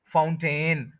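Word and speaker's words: fountain: है पानी का फाउंटेन तो ये भी वही रूल है कि टी और एन के बीच में जो ए और आई है वो नहीं बोला जाएगा तो ये बनेगा फाउंटेन टू सिलेबल्स है फर्स्ट सिलेबल प स्ट्रेस है और टी एन पे स्ट्रेस नहीं है ये बनेगा फाउंटेन फाउंटेन टी के बाद एन बोल देना है टेन नहीं बोलना फाउंटेन फाउंटेन फाउंटेन to syllables है फर्स्ट सिलेबल पर स्ट्रेस है उसको एनर्जी देनी है टन जो टी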